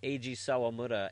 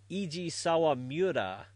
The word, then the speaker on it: Sawamura: I cringed each time he said Eiji Sawamura as Eiji Sawamura. What's the I doing in there?